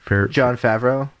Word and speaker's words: Jon Favreau: I was very excited John how do you pronounce his last name Jon Favreau thank you yeah yeah and thank you John